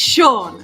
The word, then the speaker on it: Sean: It's Sean. Okay, thank you, Sean. It's Sean. I think that's like the more common pronunciation anyway.